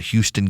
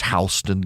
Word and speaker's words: Houston: They've got Houston County, but it's Hston County.